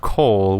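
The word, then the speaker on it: kohl: In the past, they would make black eyeliner out of coal, which is spelled like K-O-H-L, which is a very poisonous mineral.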